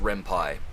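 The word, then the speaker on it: Ren'Py: romance or romantic love and then the pie coming from the word python because it's uh the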